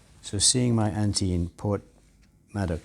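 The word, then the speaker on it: Porthmadog: seeing my auntie in Port madok yeah it is it's almost a bit like Port Mad Dog iPhone do you remember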